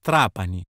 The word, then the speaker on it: Trapani: bergamo chi vuole vedere la sicilia va a trapani chi invece preferisce la sardegna si reca a